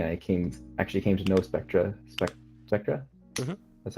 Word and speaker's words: Spectra: I actually came to know Spectra.